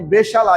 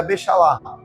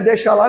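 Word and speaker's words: בשלח: Fala assim, bem gutural, né? Fala assim meio com a garganta mesmo bem puxando.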